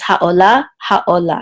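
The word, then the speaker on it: העולה: so it says ha, and this is an ayin, which is silent, and this cholam says o, ha, o. Actually, it's the same word as this, so I won't go over it word letter by letter. It says ha'ola, same word.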